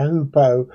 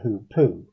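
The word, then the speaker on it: hoopoe: rest of this show I'm calling it a hoopo, not a hoopoo.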